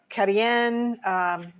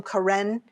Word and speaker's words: Karen: may know the uh some people call them karen but locally they're pronounced carien and these are the